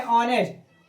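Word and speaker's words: honest: अगर हम बात करें ऑनेस्ट ऑनेस्ट मतलब ईमानदार मतलब ये कि जिन शब्दों का जिन शब्दों में एच हो और एच के तुरंत बाद वोवेल दिया हो तो एच साइलेंट हो जाता है और शब्द प्राप्त होता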